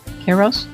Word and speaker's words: Kairos: Kairos? Did I read it right this time? Kai. It's like Egypt with an S.